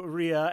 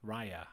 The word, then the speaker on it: Raya: let's move on to ria and the last dragon rhea raya raya come on i'm not the one